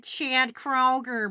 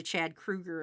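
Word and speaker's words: Kroeger: If you must know, out of all the Chad Kroger memes, my favorite of all, actually, we pronounce it wrong. It's actually Chad Kruger, apparently.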